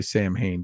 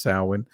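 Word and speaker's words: Samhain: and we know it's we we all say sam Hayne but it's sin right it's supposed to be pronounced sin okay in a f in a foggy veil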